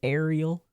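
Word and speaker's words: Eriel: But it's spelled with an E, like Eric, but Ariel.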